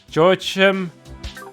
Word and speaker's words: Joachim: Joachim? That's how we pronounce it.